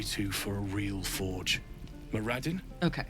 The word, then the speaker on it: Moradin: Moradin. Okay. Moraden. Listen to me. Moraden. I was afraid. I was going to say I was afraid he was going to pronounce it Moredine. Moredine.